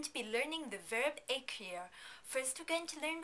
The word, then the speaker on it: écrire: Take a look at the first E of écrire. Do you notice the accent on top of it? When there's an accent aigu like this, we don't pronounce it as E, but rather as A.